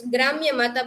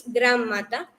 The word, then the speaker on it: Gram Mata: Some people pronounce it's Gramya Mata, but originally it's Gram Mata.